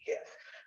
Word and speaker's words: GIF: I also say hard G GIF, right?